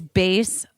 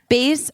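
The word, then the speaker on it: Béis: the show I would like to say is base luggage and bags and it's spelled b e i s bass was created by actress Shan Mitchell to make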